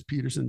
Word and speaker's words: Pettersen: I got a website, and it's Pettersen, Pettersen. It's spelled the Norwegian way. Two T's, all these, but everybody says Peterson. Don't worry about it.